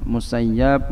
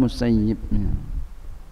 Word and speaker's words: Musayyib: Ibn al-Musayyib, guru saya ada dua bacanya, Musayyab, Musayyib.